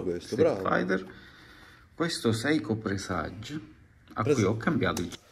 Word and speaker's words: Presage: anche te presage presage ma perché dovete Calcare la g in questa maniera qua Va bene gli acc va bene tutto quello che volete No ma presage presage senti Come si pronuncia leggero proprio volare presage cinturino Quindi vorrei